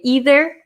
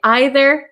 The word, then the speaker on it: either: And we can pronounce these two ways. So my pronunciation as an American from Wisconsin, I say either and neither. But other people in America, and I think in England, if Simon's in here, you can correct me. Some people say either and neither. Okay, so both are correct.